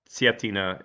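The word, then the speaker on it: Cetina: the ktina setina expansion setina is how it's pronounced uh this is the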